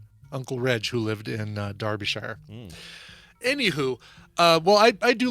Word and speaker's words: Derbyshire: And I think there's no way you'd know this, Scott, but I believe it's pronounced Derbyshire, even though it's spelled Derby. It's pronounced Darby, but Mark can correct me if I'm wrong on that.